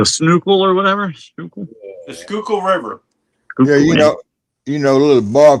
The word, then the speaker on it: Schuylkill: I can't pronounce it. Sickle or whatever it is. Google. The Snookle or whatever. Snookle. The Schuylkill River.